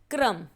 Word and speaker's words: क्रम: जैसे क्रम में आप देखेंगे क पर पदेन है, इसीलिए क का उच्चारण र से पहले है और उसे आधा उच्चारित किया गया है, क्रम।